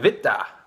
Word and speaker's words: Witte: This is Ommegang Witte, which is their witbier. Again, I'm pronouncing the V's.